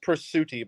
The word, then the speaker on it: Presutti: went around some tents and we found persetti from cryptic souls haunted attraction hi doctor hey how's it going it's good it's pronounced pursuti by the way you could say his last